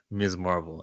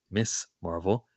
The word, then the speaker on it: Ms. Marvel: to captain mark uh ms marvel and the show by the way her name which you and i pronounced correctly and it's ms marvel and it's not miss marvel ms marvel actually is